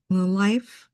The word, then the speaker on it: Lilife: This is our day 9, and this is spelled Lilife. So I pronounce it Lilife.